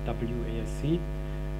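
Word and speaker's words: WASC: started at the mosque like the americans pronounce it wesc which is web application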